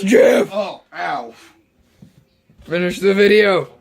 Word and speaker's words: GIF: It's pronounced GIF, but yeah, sure. No, it's GIF!